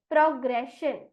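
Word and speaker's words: progression: शब्द का सही उच्चारण होता है ऑप्शन ए प्रोग्रेशन अब बढ़ती हूं मैं स्पेलिंग राउंड की तरफ और यहां पर आपके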